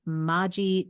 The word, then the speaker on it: Margie: It's Margie, right? Not Margie. Yes, it is.